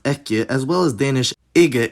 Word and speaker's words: ekki: This survived into Icelandic with the same spelling, pronounced ekki, as well as Danish ige and Norwegian ikke.